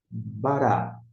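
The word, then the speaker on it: בָּרָא: E o Aleph não é pronunciado. Bereshit, bará.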